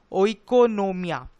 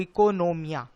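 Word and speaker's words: οἰκονομία: word से आया है और उसका ग्रीक प्रोनाउंस कुछ ऐसा है इकोनोमिया व्हिच मींस मैनेजमेंट ऑफ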